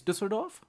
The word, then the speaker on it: Düsseldorf: Oh wait, the city is Düsseldorf. So let's make Düsseldorf. Whoop. The first or the second letter is an Ü. Ü.